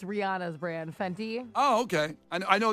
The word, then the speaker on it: Fenty: It's spelled phonetically. Wait. F E N T Y. Yeah, you're good. Fenty.